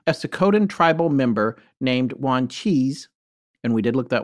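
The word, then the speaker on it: Wanchese: second tribal member named juan cheese and we did look that one up w-a-n-c-h-e-s-e but we looked at an algonquin pronunciation chart and i i'm pretty sure it's one cheese and monteo possibly but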